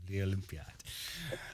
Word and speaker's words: L'Olimpiade: for having me yeah Le Olympiad it's Italian okay Le Olympiad um so tell us